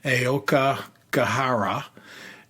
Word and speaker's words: Aokigahara: The Japanese name for the forest is, and I'll do my best to pronounce it, but Aokigahara.